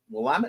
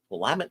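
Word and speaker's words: Willamette: wmet river you know wamt and wilmet wamt is out west wilmet is in Chicago and you do not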